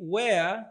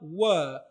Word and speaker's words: were: Halitamkwi where linatamkwa were. Watu wengi wanalifananisha hili neno na lile neno where la kumaanisha wapi?